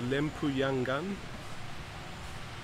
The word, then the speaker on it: Lempuyangan: I've arrived at the train station, the Lempuyangan, that's how you pronounce it, train station, and I'm now taking the train to Semarang, which is in central north Java.